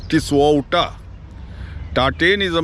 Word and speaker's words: Tisauta: which Zhang mispronounces as Ta-Tein. 56 kilometers northwest of Pidhauli is a place called Ta-Tein. Folks, Ta-Tein is a mispronunciation of Tisauta.